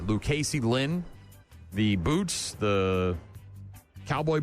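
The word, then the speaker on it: Lukacey: Lucasey Lynn.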